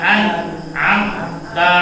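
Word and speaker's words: أنعمت: Jangan ana, jangan ya. Siratal ladzina nah, bukan ana. Siratal ladzina nah direm, jangan amma, jangan. Siratal ladzina an'amta 'alaihim.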